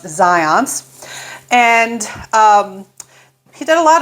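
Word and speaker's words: Zajonc: a researcher named Zions the spelling would not make me think that it's pronounced that way but I've always heard it pronounced Zions and he did a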